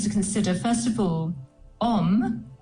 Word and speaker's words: Om: consider first of all om uh is a very powerful Sanskrit sound or word and it has three syllables traditionally the Au U and the m and these vibrate in